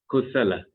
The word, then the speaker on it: Kusala: Oh, the funny part is that USA and LA is part of my name, and I just need to add K in front.